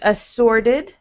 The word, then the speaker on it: assorted: T turns into a D in assorted.